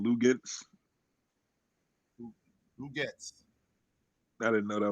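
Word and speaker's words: Luguentz: Lugets.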